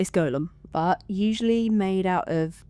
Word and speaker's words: golem: And I think it is pronounced golem because it's spelt G-O-L-E-M rather than Gollum, which is kind of what most people will use to like refer to it, which is obviously the character from Lord of the Rings, spelled G-O-L-L-U-M.